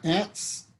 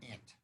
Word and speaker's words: Ent: so maybe in so maybe in midcentury England they pronounced it ant ant Aunt yeah Aunt there are